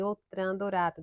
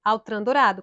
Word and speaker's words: Autran Dourado: Confissões de Narciso, de Outram Dourado. De Altran Dourado, Outram Dourado. Eu falo Outram, minha gente, porque é o costume da pronúncia francesa. Mas é Altran Dourado, Confissões de Narciso.